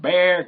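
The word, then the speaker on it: Bexar: Julianne step Drake from Bear County Texas only the people in Texas know how to spell that bear it's not b a r it's b x a r but we're going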